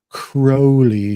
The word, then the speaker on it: Crowley: And of course, Ozzy Osbourne had to correct everybody and say it's Alistair Crowley.